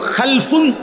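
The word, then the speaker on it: خَلْف: খালফুন আরেকটা হল খালাফুন একই শব্দ শুধু উচ্চারণের মধ্যে একটু ভিন্নতা মাঝখানে একটা লাম আছে এই লামটার মধ্যে যদি সাকিন হয় তাইলে হল খালফুন আর যদি লামের মধ্যে জবর হয় তাহলে হল খালাফুন আরবি শব্দ খালফুন লামের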